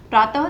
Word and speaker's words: प्रातः: पीछे विसर्ग आ गया, और विसर्ग का उच्चारण कैसे हो रहा है, जब हम बोल रहे हैं तो ह का उच्चारण हो रहा है, प्रातः।